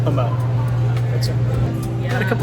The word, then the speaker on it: Pommeau: It's pronounced Pommeau. It's a French word. It's Pommeau. Pommeau.